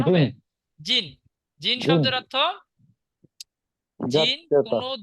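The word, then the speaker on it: 人: কি হয়েছে জি তার সঙ্গে ন তাহলে কি উচ্চারণ হবে জিন জিন শব্দের অর্থ জিন কোন দেশের নামের পরে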